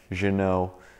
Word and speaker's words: Ginault: stitching on the outside Janome on the front that's the fancy way of pronouncing it I'm sure kind of like Renault Renault once you open up